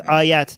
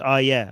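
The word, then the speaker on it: آیه: Somebody's saying it's ayat, not ayah. Okay, I am Persian. Okay, so I am pronouncing it in Persian.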